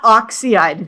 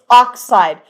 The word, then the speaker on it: oxide: It's not oxide. Now, this is it's oxide and they always have two syllables.